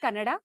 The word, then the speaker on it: Kannada: so first up I think let's get the pronunciations out of the way it's Karnataka it's kannada Canada and it's so the a is very